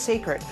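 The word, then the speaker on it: Cécred: It's spelled C-E-C-R-E-D, but pronounced Sacred.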